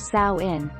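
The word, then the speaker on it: Samhain: to the ancient celtic festival of sawin pronounced sao sowin on the night of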